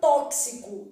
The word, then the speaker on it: tóxico: quatro qu fonemas guerra na palavra tóxico eu tenho t esse x que tá aparecendo aqui ele produz o que a gente chama de dífono é um x com som de KS ai ar condicionado que